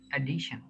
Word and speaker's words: addition: এটা পরে আমরা যখন পরবর্তী কনসোনেন্টে যা শিখবো, তাহলে কি হবে এটা, Addition. এডিশন, এডিশন, addition, এখানে ডিআই এর উপরে কি একটা স্ট্রেস হচ্ছে, অ্যাডিশন।